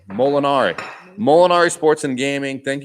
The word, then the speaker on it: Molinari: neck phonetically for me it's mole m-o-l and then in mol in and then ari mol inari molinari it's italian i should have known this that was probably their last name molinari molinari sports and gaming